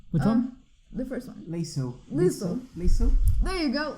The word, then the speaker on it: Liesel: Liesel. Liesel. There you go, Liesel.